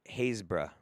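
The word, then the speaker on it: Happisburgh: you one more uh happis hapis pronounced hazebra how in the is that pronounced hazebra it's literally h-a-p-p-i-s-b-r-u-g-h happis brug happis brugg and you're telling me it's hazebra man what the [ __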